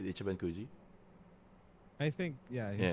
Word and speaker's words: Ichiban Kuji: Ichiban Kuji.